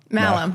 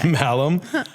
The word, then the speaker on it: Mahlum: Malham, yeah. Malham, Yeah, the H is silent. The H is silent, yeah. And yeah. Malham.